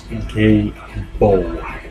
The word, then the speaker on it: Gebo: The pronunciation, and as always I will add a little description, is Gebo.